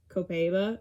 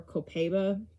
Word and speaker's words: copaiba: but i have used copaiba or copaiba depends on who's pronouncing it essential oil on him